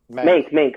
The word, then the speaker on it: Mank: Or Monk, or I forget Mank, how you pronounce it. Yeah. Mank, there it is.